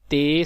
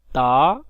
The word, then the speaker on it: ت: حروف تہجی 29 ہیں۔ حروف مفردات کو تجوید و قرات کے مطابق عربی لہجے میں ہم ادا کریں گے اور اردو تلفظ سے پرہیز کریں گے، جیسے بے، تے، سے وغیرہ، توئیں، زوئیں وغیرہ ہرگز نہیں پڑھیں گے، بلکہ با، تا، سا، تو اور زا اس طرح پڑھیں گے۔ آگے ان 29 جو